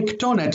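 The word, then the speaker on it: כתונת: it would be pronounced kethonet or kesonet. And in both situations, it just sounds bad. So instead of saying kesonet or kethonet, they preferred to say ketonet, so they had to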